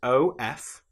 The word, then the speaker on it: of: One important example that you should know about is the word of, which is O F. But in this case the f is pronounced like a v. If we have o ff that then is nonvoiced but the f in of is voiced.